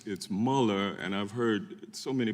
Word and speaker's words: Mueller: Eastman now maybe it's a bit of my German heritage my mother's maiden name was and the Mueller is the German pronunciation so it's it's Muller and I've heard so